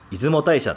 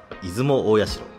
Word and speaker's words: 出雲大社: なるほど、今日は出雲大社の話ですね。